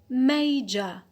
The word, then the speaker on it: major: So here the stress is on the penult. Penult. Second from the end. So we have applied the rule 1C because we have a schwa at the end. It is a short vowel.